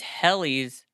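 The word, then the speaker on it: Hellie: I say Helly because it's Hell, but I'm going to say Helly too then.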